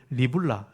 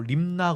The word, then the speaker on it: 리블라: 거기 6절에서 한번 보십시오 그들이 왕을 사로잡아 그를 리블라 리라라 그러기 하고 립나 그러기도 합니다 리라를 좀 짧게 발음하면 나가 되죠 립나에 있는 바벨론 왕계 끌고